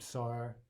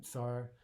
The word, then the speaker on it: tsar: Generally, it's just T plus S, but in certain positions, this can throw English speakers off just a little bit. If it's at the start of a word, for example, we're probably not used to that. But we all know the word tsar, or yeah, tsar. So this letter should not be too hard to pronounce.